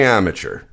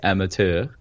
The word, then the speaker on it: amateur: We say amateur. No. The word is French, and it's pronounced amateur.